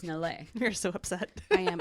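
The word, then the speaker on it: na'laa: a pet name Nal now Nal is spelled n a apostrophe L AA so Nala is what it looks like but no no no it's nalle you're so upset I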